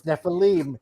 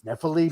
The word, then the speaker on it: Nephilim: No, it's Nephilim. It's Nephilim, Mike.